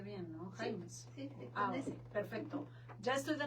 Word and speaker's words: Jaimes: Sí lo pronuncié bien, ¿no? Jaimes.